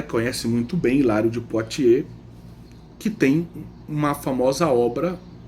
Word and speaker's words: Poitiers: A gente escreve Poitiers, mas a pronúncia é Poitiers. Então, Ladária conhece muito bem Hilário de Poitiers, que tem uma famosa obra que se chama como o Tratado de Agostinho de Trinitate.